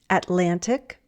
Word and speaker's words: Atlantic: For example, we often drop the T after an N and before an unstressed syllable. Plenty, plenty. Internet, internet. Atlantic, Atlantic.